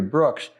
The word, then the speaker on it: Brooks: a successful career because your last name rhymes with books I had not thought of that that's very good I'm going to put my U new titles out under Terry Brooks but I'll put a